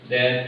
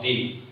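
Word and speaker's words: the: বলতো, এ হচ্ছে ভাওয়েল, ভাওয়েলের আগে আমরা টিএসি এর উচ্চারণ দি করি।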